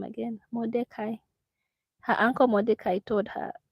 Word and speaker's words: Mordecai: Mordecai.